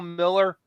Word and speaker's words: Mueller: The guy they call Bill Miller, but it looks like Mueller. But they call him Miller because it's spelled Muller.